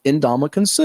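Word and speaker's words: Ndamukong Suh: u h is how you say it it's pronounced indam consu all right second name we'll give you a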